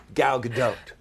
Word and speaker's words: Gal Gadot: go not transformers not Wonder Woman we love gal gadot I just like to say that cuz I